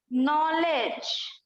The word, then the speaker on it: knowledge: Next word is नॉलेज, KNOWLEDGE, नॉलेज। यहाँ पर भी सिर्फ ज पढ़ते हैं, डी को साइलेंट।